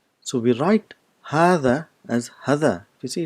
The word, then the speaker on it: هذا: this letter there is you have to bring your tip of your tongue just in front of the teeth in urdu it's pronounced as haza which is wrong the